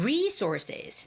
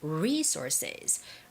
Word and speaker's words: resources: in charge of Human Resources now when you're reading this word the stress goes on re so it's resources resources okay starting today you'll